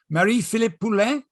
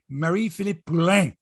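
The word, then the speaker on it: Marie-Philip: Jordan Romano Felix Jose Mary Philip or sorry Mary Philippe I gotta say it right uh kale mccar Nathan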